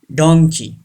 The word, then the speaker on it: donkey: say this word donkey don't say donkey like monkey donkey number three handkerchief yes